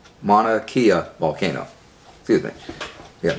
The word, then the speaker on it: Mauna Kea: the tone of hawaii wanna mount of that pronounced Mauna Kea volcano do you think yes Mauna Kea volcano